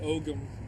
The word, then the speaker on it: Ogham: that is using the Ogham alphabet, or the Ogham alphabet. It's sometimes pronounced that way.